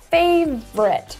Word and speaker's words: favorite: my favorite dessert so now you understand that there are only two syllables favorite and you can throw away the OU if you're looking for